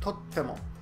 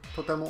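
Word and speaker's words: とっても: I actually wrote in the original, I wrote totemo, and then sometimes I wrote totemo. So it really depends on the pronunciation of the person. Either is fine, totemo or totemo.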